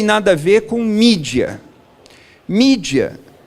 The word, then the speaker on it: mídia: a ver com mídia mídia é a expressão latina com a pronúncia inglesa do plural de e mails quando